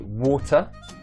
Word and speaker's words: water: Sometimes I'll pronounce the /t/ so I'll say 'Water' and sometimes I won't pronounce the /t/ I'll say 'water'.